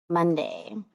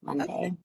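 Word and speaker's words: Mundy: Monday. Uh, spelled with a U instead of an O. Monday.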